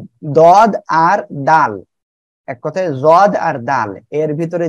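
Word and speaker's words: ض: ওকে, তাহলে আমরা সবাই একসাথে এ অক্ষরটা আবার একটু উচ্চারণ করি, সবাই বলেন জদ, সবাই বলেন জদ।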